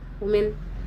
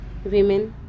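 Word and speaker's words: women: mini school championship national ವುಮೆನ್ ವಿಮೆನ್ championship ಅದರ ಉಚ್ಚಾರಣೆ ವಿಮೆನ್ೇ ಅದನ್ನ ನಾವು ವುಮೆನ್ ವುಮೆನ್ ಅಂತ ಹೇಳ್ತೀವಿ ಫೆಡರೇಷನ್ ಕಪ್ ಕೊಕ್ಕೋ ಪಂದ್ಯವಳಿ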